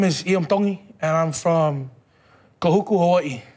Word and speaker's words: Tongi: My name is Iam Tongi, and I'm from Kahuku, Hawaii. Iam Tong. Tongi. You pronounce the T's like a D in the Tongan culture.